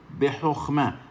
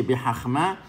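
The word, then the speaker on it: בְּחָכְמָה: Mira aquí, behochma. Kamaz, sheba, la kamaz vuelve o. Behochma. No se dice behachma, behochma. La het que tiene una kamaz vuelve o. Kamaz antes de sheba vuelve o.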